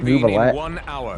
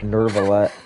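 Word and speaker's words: Neuvillette: No, apparently it's not even pronounced Nouvelette. No, it's like Nervalette.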